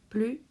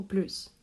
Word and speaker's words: plus: qui apprennent le français plus ou plus comment prononcer on va commencer par les cas où ce mot prononce comme plus c'est très simple tout d'abord quand c'est en substantif par exemple de plus de font 4 puis quand il est enfant de phrase ou suivi d'une pause par exemple j'en veux